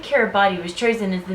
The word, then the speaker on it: Kiribati: The pronunciation differs. Kiribati is the official pronunciation, as T in Kiribatese makes an S sound.